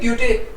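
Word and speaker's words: Goethe: कई लोग इसको था भी बोलते हैं, जैसे ग्योथे, ग्योथे बोलते हैं, ग्योटे भी बोलते हैं लोग, right? But which is the better, right? Right, so silent is better, Silent is better. या कई लोग बोलते हैं गोथे इंस्टीट्यूट, कई बोलते हैं ग्योथे institute, okay, so we should या प्रीफर द साइलेंट वन.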